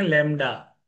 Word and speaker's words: लैम्ब्डा: इसे हम बोलते हैं लैम्ब्डा। बी इसमें साइलेंट होता है बेटा।